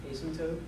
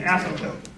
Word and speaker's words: asymptote: Asymptote? Almost the correct pronunciation, but the right idea is an asymptote.